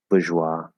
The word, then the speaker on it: bourgeois: Bourgeois. Bourgeois. So if there's no vowels at the end, then the Z is also silent and it's just bourgeois.